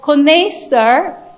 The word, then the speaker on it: connaisseur: The pronunciation of connaisseur is the Connaisseur, which is the French word.